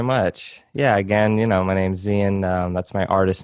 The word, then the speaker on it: Xian: So yeah, how do you properly pronounce it? I say Yeah, Xian, Xian.